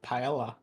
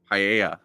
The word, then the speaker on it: paella: I love Paella. Paella. Who else? Yeah. And it's not English. Exactly. I like to imagine Sammy knows he's pronouncing it wrong and is doing that